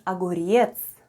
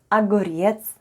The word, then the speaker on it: огурец: and all together it's aguriets with the stress on the last syllable try saying it with me agorietz now let's play a